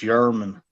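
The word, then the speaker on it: Germán: against is it yerman it's spelled German but I I think it's pronounced yerman yeah I was going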